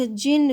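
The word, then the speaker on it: djinn: तो देखो जिन, जो इसकी स्पेलिंग डी से स्टार्ट है लेकिन डी साइलेंट रहेगा, तो जिन इसको प्रोनाउंस करेंगे हम.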